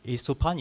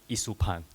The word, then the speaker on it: Isopan: So Isopan is actually, or you can pronounce it as Isupan or Isopan. It depends because in local context, a lot of people will say Isopan. But in Italy, they call it Isupan. Italy, Isupan. Yeah, this is how they pronounce it, but either way is fine.